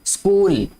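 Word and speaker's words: school: अब स्कूल में जो एच है ये साइलेंट है, ठीक है। स्कूल ऐसे लगता है कि जैसे SCOOL, कूल होता है ना, जैसे कूल, एस स्कूल, COOL कूल होता है ना, जब एस लगाएंगे तो स्कूल हो जाएगा। ये इसका मतलब एच की आवाज नहीं आ रही, लेकिन ये लिखने में आता है।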